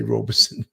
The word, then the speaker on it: Robeson: It's actually called Robeson County, but it's spelled Robeson. We all say Robinson. I thought I did say Robeson, like Paul Robeson, the singer songwriter.